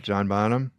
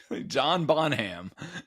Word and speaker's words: Bonham: John Bonham. Yeah. I mean people say it so fast that it's almost like B O N A without an H. Yeah. Yeah. Like Bonham.